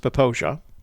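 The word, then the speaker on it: Popo Agie: heavily searched so um first of all that's pronounced poposia that's how it's pronounced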